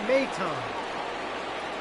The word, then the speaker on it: Maton: So I needed to listen to hear how to pronounce this fellow's name. Phil Maton.